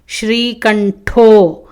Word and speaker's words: శ్రీకంఠో: నాథః శ్రీకంఠో, థః మహాప్రాణ, శ్రీకంఠో ఠ మహాప్రాణ.